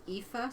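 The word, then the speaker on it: Aoife: pronounce all that stuff there's a reason epha spells her name when you meet her a o i is that how you pronounce that EA she's Irish yeah she's at work and anybody who sees her name for the first time they're like she says epha a o i f e that's how she introduces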